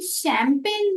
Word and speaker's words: champagne: वैसे ही शैंपेन में जो सी एच है उसे हम श इस अक्षर से प्रोनाउंस करते हैं, तो हुआ शैंपेन।